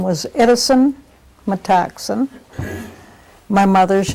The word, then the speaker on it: Metoxen: My name is Metoxen is spelled, Metoxen, M-E-T-O-X-E-N.